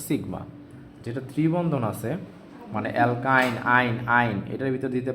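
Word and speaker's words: alkyne: বলেন তো এখানে আরেকটা জিনিস লিখলাম সেটা হচ্ছে অ্যালকাইন কি লিখলাম বলেন তো অ্যালকাইন আইন আইন আইন উচ্চারণটা শুইনেন তিনটার তিনটা উচ্চারণ একটা হচ্ছে অ্যালকেন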